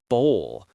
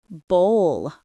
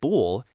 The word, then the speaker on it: bowl: It is bowl. It rhymes with roll or goal. The vowel sound is the long O followed by a slight L sound. Bowl. Bowl.